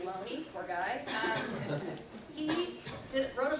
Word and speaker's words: Looney: In 1920, a man named Loney, it's spelled Looney, but it's pronounced Loney, poor guy.